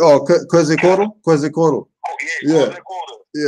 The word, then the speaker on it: Quetzalcoatl: Kete Kota. I can't pronounce his name. Oh, Quetzalcoatl?